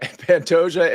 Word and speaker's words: Pantoja: knockout miss spia all right we're going with Pantoja is it panta did I pronounce that right yeah that's right like a okay Pantoja and Reyes okay well we'll get back to